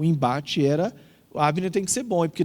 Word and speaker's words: Abner: Abner, eu acho que é Abner a pronúncia correta.